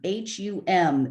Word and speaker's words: hum: then mani padme um h-u-m it sounds when you're hearing it chanted it sounds like ohm again but it's actually hum and um it is